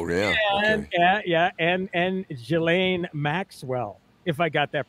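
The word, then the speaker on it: Ghislaine: did Jan gillain gain you know how many times has that been said you know it's J Lane yeah that's probably the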